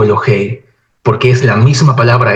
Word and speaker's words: Elohey: está en estado constructo por eso aquí la palabra se lee elog o elohei porque es la misma